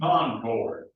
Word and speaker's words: Concord: Naples, and I in Concord, accent on both syllables.